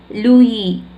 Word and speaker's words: Lewis: See here, லூயி, இது வந்து நிறைய பேர் லூயிஸ் படிக்கக்கூடாது, எஸ் is silent here, லூயி carol.